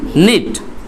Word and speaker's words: knit: তো বোনা ইংরেজি আমরা বলতেছি নিট, KNIT। এখানে কিন্তু দেখো বিগিনিং লেটার কে, কিছু কিছু বিগিনিং লেটার আছে যেমন কে থাকে, বাট উচ্চারণের সময় সেই কেটা আসে না।